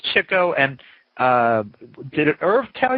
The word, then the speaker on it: Chico: great story behind it most people think it's Chico because that's the way we you know Chico in the man these days we've read print pronounced it that way but it was Chico and did it Irv